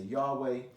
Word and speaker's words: Yahweh: some people say jávea some people say Yahweh now if you spell